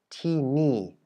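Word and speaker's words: ที่นี่: And now, as opposed to the exception that we had with ti ni, where you would expect ti ni, the last syllable, to be a high tone, it's also a falling tone.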